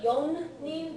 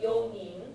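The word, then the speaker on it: 四人: And then 4 people is yonin, not yonin, but yonin. Yoni.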